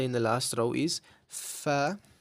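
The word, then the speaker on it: ف: The first letter in the last row is F, which is similar to a F in English.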